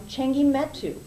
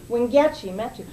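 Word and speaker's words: Wangechi Mutu: a lot of press and recognition, is one Chengi Metu. Did I say her name? Wingechi Metu.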